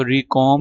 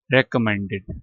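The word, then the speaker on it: recommended: अच्छा इसको रिकॉर्म नहीं पढ़ना। री कम पढ़ना है। री भी नहीं पढ़ना। र पढ़ना है। रेकमेंडेड रेकमेंडेड रेकमेंडेड टू।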